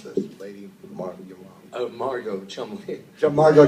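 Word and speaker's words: Cholmondeley: Jack is John's grandson, and he's the son of Tony Huston and Lager, and you know, I can't pronounce this. Lady Margot Chumley. Margot Chumley, okay.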